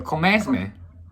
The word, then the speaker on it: commencement: I'm honored to be with you today at your commencement from You're pronouncing commencement. There's no R. Oh, so commencement.